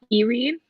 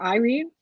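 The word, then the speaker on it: Yrene: theater Tower of dawn pronouncing it as Eerie not Irene because it was spelled with a wife it was the Sarah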